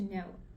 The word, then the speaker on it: know: And from there, we get the modern English word to know. And the silent letter K here reminds us of its origin.